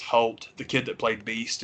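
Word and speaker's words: Hoult: um l fanning and nicholas i think it's pronounced halt the kid that played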